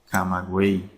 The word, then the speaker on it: Camagüey: Porque la Y no se pronuncia como en yate o en yegua, ¿verdad? Sino que se pronuncia como I latina. Buey, camagüey.